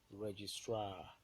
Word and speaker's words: registrar: When you have example of ultimate uh, stress on the primary stress on the ultimate syllable is the word registrar. Registrar. Stress on the last syllable.